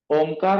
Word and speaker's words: ओम: पर रखे मेरे पीछे ओमकार का उच्चारण करें आपको अ उ आधा और म आधा ऐसा बोलना है मेरा म आपको सुनाई नहीं देगा लेकिन आपको बोलना है ओम को जितना लंबा